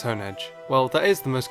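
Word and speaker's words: Honedge: Honeage after the So the anime also says honeage. Well, that is the most common pronunciation I've heard and even I pronounce it as Hone Edge. So, I'm going to go with the correct pronunciation being Hone Edge.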